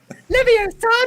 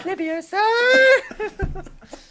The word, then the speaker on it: Leviosa: Hello, Leviosa, not Leviosa.